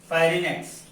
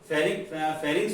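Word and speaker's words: pharynx: ग्रसनी इसे क्या बोलते हैं, फेरिनेक्स, ठीक है ना, फेरिंग्स भी इसे कहा जाता है, कई जगह इसका प्रोनाउंसिएशन फेरिंग्स होता है और कई जगह होता है फ्राइनेक्स, ठीक है ना।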